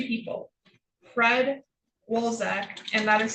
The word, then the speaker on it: Wszolek: So I contacted it was 2 people, Fred Wolzek, and that is spelled WSZOLEK, or Heather Lombardini.